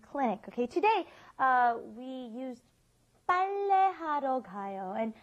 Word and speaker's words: 빨래하러 가요: Okay, today we used 빨래하러 가요, and I think the double B or the P is really hard for foreigners to say because this isn't in our vocabulary.